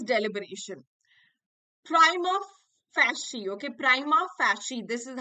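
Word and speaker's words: prima facie: so that is deliberation Prime of fancy okay Prima fashion this is how it is pronounced and it is a foreign accepted uh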